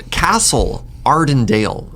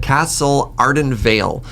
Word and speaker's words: Castle Ardenvale: First one, Castle Ardendale. This is the white land. I told you, premier land pronouncer is not me, just premier land pilot. Castle Ardenvale.